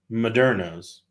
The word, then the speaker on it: Moderno's: It's called Moderno's. But Becca likes to put an extra syllable in it. So it's Moderno.